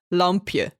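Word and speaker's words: lampje: how do you say it how do you pronounce that book in Dutch it's lumpia Lum it's I should maybe spell this l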